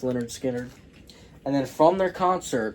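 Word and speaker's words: Lynyrd Skynyrd: my favorite bands Leonard skinnard uh this is pronounced Leonard skinnard and then from their concert I picked this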